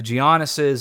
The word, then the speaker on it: Giannis: Giannis, sorry, I know you're not supposed to pronounce the G. One time I had a guy get mad at me. The G is silent, whatever.